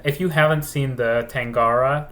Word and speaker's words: Tangara: young and and if you haven't seen the tangara like the Train the tangara it's spelled t a n g a r a